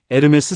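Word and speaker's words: Hermès: 첫째 에르메스 선물 송별 미팅 복요리 덕수스 심 선배님 헬레나조 마누라 선물 아이디어 예산 1000 마 2,000불 herms h 발음 무금 몰라서 몇 번 지나침 명품 가격표 이시오함 한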